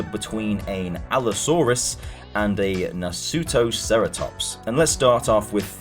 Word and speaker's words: Nasutoceratops: How do you pronounce that? Nasutoceratops. Sounds like it's an anime or something. So it's about a family trying to survive an encounter between an Allosaurus and a Nasutoceratops.